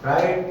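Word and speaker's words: fright: फ्राइट, फ्राइट माने भय या डर, इसमें भी GH साइलेंट है।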